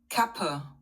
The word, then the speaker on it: Kappe: he's an American on the market unnecessary kappa Kappa.